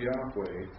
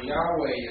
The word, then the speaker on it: Yahweh: So Yahweh is the word. I'm sorry. If it had its proper vowel points, most scholars assume that it would be pronounced Yahweh.